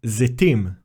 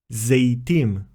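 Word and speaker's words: זיתים: For example, you may sometimes hear the word zetim pronounced as zeitim.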